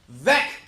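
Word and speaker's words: Veeck: You know how to pronounce my name because my autobiography says Beck rhymes with wreck.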